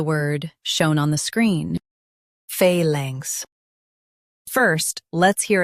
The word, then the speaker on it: phalanx: In UK, stress phal and soften langs. Phalanx, phalanx.